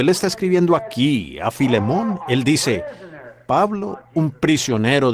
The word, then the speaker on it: Filemón: me lo sé y a veces no puedo pronunciarlos correctamente por la falta de Educación Así que Filemón dijo alguien allá atrás lo cual creo que es la pronunciación correcta Ahora el primer versículo